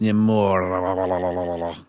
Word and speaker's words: Namor: I remember, I read that they actually had Namor make a cameo. He's the guy who goes eBay. Well, hang on, Brandon, you said it wrong. It's actually pronounced Namor, as they say in Black Panther 2.